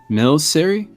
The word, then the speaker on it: Milcery: I don't know how to pronounce this one. Milcery? Oh, is that the weird jelly Pokemon? Melcery, yeah.